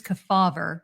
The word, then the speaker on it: Kefauver: Do you factor in the death of Senator Estes Kefauver? Am I pronouncing that right?